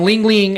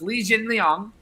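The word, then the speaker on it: Li Jingliang: get your thoughts on lingling uh fights fighting uh i think that's how he's pronounced his last name legioling it's it's a couple of couple things so it's lee jin liang thank you that's it's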